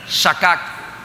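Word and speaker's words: שָׁכַח: Vamos a comenzar con una palabra traducida en el hebreo que se dice o se pronuncia de la siguiente manera: shakak.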